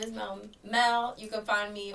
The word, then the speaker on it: M'elle: Yeah, so my name is Mel Mel. You can find me on all platforms as Mel Music. Um it's spelled m e l l e music underscore at the end.